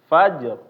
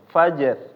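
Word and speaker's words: فجر: habis itu di sini ketemu ro rnya tebal jangan membaca menjadi tipis Fajr Fajr nah ini tebal kalau misalnya tipis Fajr Fajr nah ini keliru ya kalau misalnya kita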